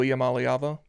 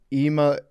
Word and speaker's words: Iamaleava: Nico Iamaleava. Iamaleava.